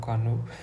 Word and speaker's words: Carnot: Okay, so Carnot heat engine की क्या, one more thing, the T is silent in the pronunciation of Carnot.